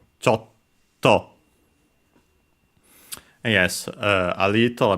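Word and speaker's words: ちょっと: reminder like English uh you have to start uh pronouncing the consonant keep it and then release it. Chto Chto.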